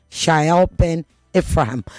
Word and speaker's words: Shaiel Ben-Ephraim: His name is Shael Ben Ephraim. Did I pronounce it correctly?